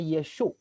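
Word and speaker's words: ישו: Ia diberi nama Yesus, sebetulnya ini ejaan Yunani ya, Yesus itu. Kalau pakai ejaan bahasa Ibrani, bahasa orang Yahudi, itu ejaannya Yeshu. Yeshu Hanotsri. Kalau orang Yahudi menyebutnya Yeshu.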